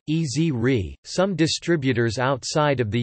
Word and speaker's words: Esri: pronunciation of company name according to the company Ezri is pronounced as a word easy re some distributors outside of the USA such as ESRI Canada market themselves with the S REE pronunciation followed by the